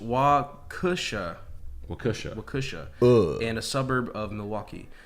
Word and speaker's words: Waukesha: The note on this, pronounced Waukesha, and a suburb of Milwaukee.